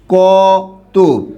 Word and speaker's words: কত: কি হবে সত কারণ শব্দের শেষে কিন্তু ত অ আছে অ থাকার কারণে এখানে উচ্চারণটা কি হবে ও হবে তখন আপনি এটাকে লিখবেন কি স ত এই যে উচ্চারণটা আমি লিখলাম এরকম ক ত আপনি কিন্তু এরকম লিখবেন